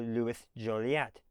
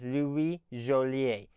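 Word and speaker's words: Louis Jolliet: And as I understand it, his name should be pronounced in French as Louie Jolier.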